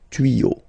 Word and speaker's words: tuyaux: Same rule, you don't pronounce it. Des tuyaux, okay? Un tuyau, des tuyaux. So the only difference will be with the article, because the word will be pronounced the same way.